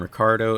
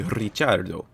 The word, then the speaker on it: Ricciardo: parkour course and then if you hear me pronouncing the name ricardo at any point and think that's incorrect it should be richardo well you're sort of correct growing up in english speaking australia daniel's family removed the italian influence from his name's pronunciation for simplicity's sake but the familiar ties